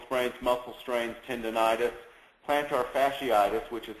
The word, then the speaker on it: fasciitis: Um obviously the the list of ankle sprains, muscle sprains, tendonitis, plantar fasciitis, which is how that's pronounced.